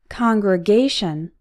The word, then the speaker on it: congregation: Congregation. This word is an exception. The stressed syllable is A, congregation, but we still pronounce con as in on.